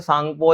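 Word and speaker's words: Tsangpo: ठीक है, और तिब्बत में इसे सांगपो या यार्लुंग सांगपो बोल सकते हो, टी साइलेंट होता है, ठीक है इसमें।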